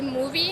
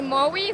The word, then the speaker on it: Mowi: So, I know that my Norwegian colleagues would say movie in the way that the Norwegian I I don't think I'm even pronouncing Norwegian right, but it's movie. Okay. I'll say Maui, some people will say Maui.